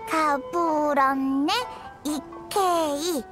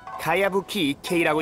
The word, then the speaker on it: 가야부키 이케이: 가부럼네 이케이. 요이미야 언니, 작가 이름이 진짜 이상해. 가부럼네 이케이가 뭐니? 그건 가야부키 이케이라고 읽는 거야.